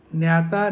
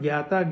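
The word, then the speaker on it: ज्ञाता: so many triputis like Jnata, Jnana, Jne. I am saying Jnata, it can be called Gyata, Gyan, Ge. In North India, that is the more prevalent pronunciation. South India, it is Jnata, Jnana, Jne.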